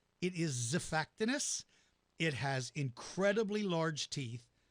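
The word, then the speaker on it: Xiphactinus: but its names is pronounced like the letter Z like we do with the word xylophone as if fact anise starts with an X so it's not X effectiveness it is a fact anise it has incredibly large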